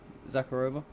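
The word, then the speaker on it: Захарова: Sorry, is that how you say her name? Zakharova. Yeah, obviously you exposed the Ukraine terror in Tokmak.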